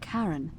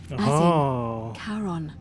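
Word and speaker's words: Charon: coin just as you described it only your pronunciation is a little off the name you heard wasn't Karen it was c-h-a-r-o-n Caron the ferryman of the Dead yeah karon who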